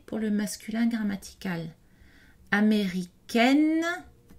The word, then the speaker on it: américaine: Américaine, on a une voyelle orale suivie d'un N prononcé pour indiquer le féminin grammatical.